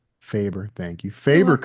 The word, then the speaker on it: Faber: Well, and I'm hoping I'm pronouncing this Faber. correctly. Faber, thank you.